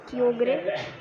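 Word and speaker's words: Kyogre: और इसका जो नेक्स्ट है क्योग्रे, और इसे कायोगर भी कहा जाता है। अगर मैं गलत प्रोनाउंस कर रहा हूँ मुझे माफ़ कर दीजिएगा। और जो भी है ये, मैं इसे क्योग्रे बुलाता हूँ, हमारे फील्ड में कुछ लोग कायोगर बुलाते हैं।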